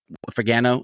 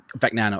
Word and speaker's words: Fagnano: We had the same thing with Fagano. Is that how you say it? Fagnano. Okay, gotcha. Thank you.